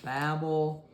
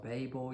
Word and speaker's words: Babel: Um you see um you see the flood, you see the tower of Babel or Babel, you can pronounce it either way.